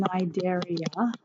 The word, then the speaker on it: Cnidaria: Okay, next we are going to do phylum Cnidaria. So the C is silent here. Phylum Cnidaria.